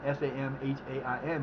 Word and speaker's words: Samhain: It's spelled Samhain, Samhain, but it's pronounced Samhain, and it is our New Year for spiritual folk.